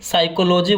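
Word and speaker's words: psychology: में साइकोलॉजी बोलते हैं पी से स्टार्ट होता है यहां पर पीस में साइलेंट होता है बहुत ही भौतिक को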